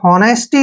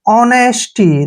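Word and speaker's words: honesty: ई एस टी वाई, इसको हॉनेस्टी नहीं पढ़ना है, यहाँ पर एच साइलेंट हो जाएगा, ओ का उच्चारण ओ करेंगे, ठीक है, ओ, एन ई का उच्चारण ने करेंगे, ऐसे, एस का उच्चारण श करेंगे, टी का उच्चारण टे, और वाई को ई की मात्रा। ऑनेस्टी, देखिए ऑनेस्टी, ऑनेस्टी क्या होता है, ईमानदारी, ऑनेस्टी ईमानदारी।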